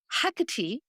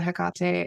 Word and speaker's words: Hecate: Yeah, so I I feel like I've been called to Hecate, and I know I say it differently. I've heard it pronounced both ways.